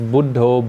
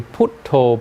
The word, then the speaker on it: Buddho: The mantra they use is Buddho, Buddho. You know this? You heard the Thai people using this? Buddho. They say Putto, Putto, if you know. Because they have strange pronunciation of Buddha.